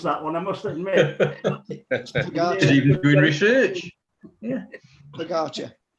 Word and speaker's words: Pogačar: And I had to look up how to pronounce that one, I must admit. Pogačar.